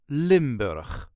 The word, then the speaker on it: Limburg: accent the province of limber this is the way us duchies say limur limber there is a very slight emphasis on the first syllable limber Lim B all the